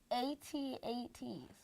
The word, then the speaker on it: AT-AT: AT-ATs. No. All-terrain No. assault. Yes, the letters are AT-AT, but you pronounce it AT-AT.